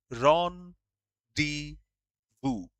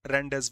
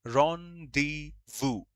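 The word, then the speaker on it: rendezvous: first one is important that's a French word pronounced ron d vu. It's not rendevous vows not English actually French word ron d vu and that's a meeting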